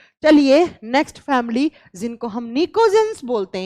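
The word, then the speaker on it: pnictogens: ये बात आप नोट कर लीजिएगा, लिखा जाएगा पी से, प्रोनाउंस किया जाएगा एन से, निकोजेंस।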